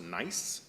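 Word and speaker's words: gneiss: is called the Morton nice it's spelled g-n-e-i-s-s but it is pronounced nice and uh this Morton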